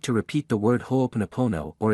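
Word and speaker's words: ho'oponopono: you I love you it is pronounced in the following way ho ponopono this is an excellent Mantra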